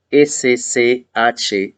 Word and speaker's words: Schwab: S-C-H-W-A-B. Schwab. Klaus Schwab. ¿Lo pronuncié bien?